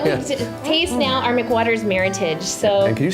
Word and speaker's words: Meritage: So And can you say, for those people that are home, saying, she says it's not Meritage. no, it is definitely not Meritage. Listen, folks, please. It's Meritage. All right. It rhymes with heritage.